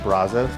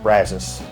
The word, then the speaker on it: Brazos: get upset when I said the old country Brazos cuz apparently in Texas he pronounced the river brazus and I was like uh okay if any